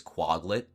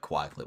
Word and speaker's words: Quaglet: to say it cuz some people pronounce the word quaglet in my name is quaglet. Like almost like a bog. How you pronounce the o and bog but with an a. It's odd. I've also I've heard rebutt quacklet which is just like so wrong but you